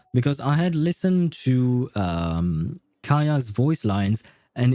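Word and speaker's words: Kaeya: Because I had listened to Kaya's voice lines, and in Japanese, they don't actually pronounce it Kaya, they pronounce it Gaia for some reason.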